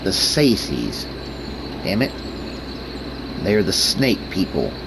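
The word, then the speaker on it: Tsaesci: Only they stay hidden, they stay under their mountains, and they let the Sekethi, the Sexies, the Saces. That is how you pronounce it, the Saces.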